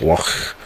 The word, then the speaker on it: Loch: It's got if you look at if you type in pictures for Loch Ness Castle, you need to spell it Loch. Loch, as Scottish folk, Loch Ness.